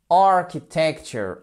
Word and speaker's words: architecture: Il tombe où? Sur la première syllabe. Architecture, architecture, architecture.